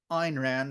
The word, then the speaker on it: Ayn Rand: You know, the one thing that I continue to like about Ayn Rand, that's how it's pronounced, is she's devoted to reason, to basically